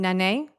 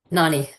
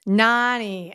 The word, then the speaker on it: Nani: So I think you call your mom Nane? Nani. Nani.